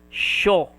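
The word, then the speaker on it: しょ: Small yo, sho. Okay. Maybe this is the right explanation. Wait. She and yo. So I and y will not be pronounced. Only the sh and o. Sho.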